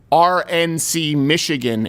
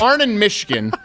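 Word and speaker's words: Arnon Mishkin: I thought she was trying to say RNC Michigan and mispronouncing it. But it's Arnon Michigan is the person who is in charge of the Fox News decision desk.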